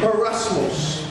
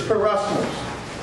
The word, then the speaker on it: peirasmos: All right, the Greek word for temptation is Peirasmos. That's how you pronounce it.